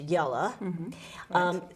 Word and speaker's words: Jelle: descendants of yellow roos that's j-e-l-l-e and in dutch it's pronounced yellow came to milton so